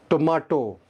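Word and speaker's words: tomato: आप समझ गए होंगे वर्ड क्या है, टोमाटो, टोमेटो, टमाटर। टोमाटो है ब्रिटिश प्रोनाउंसिएशन, टोमेटो है अमेरिकन, टमाटर इन उर्दू।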